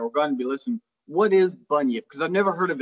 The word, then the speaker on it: bunyip: And I come up with, and I think I'm pronouncing it right, the Bunyip. The Bunyip.